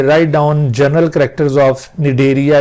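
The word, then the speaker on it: Cnidaria: सी silent होगा यहाँ पर, निडेरिया, या फिर इसको सिलेंट्रेटा फाइलम भी कहा जाता है।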